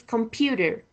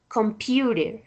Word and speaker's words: computer: And the third h example is computer. When you uh pronounce that word, you can notice that in the second syllable is a stress computer.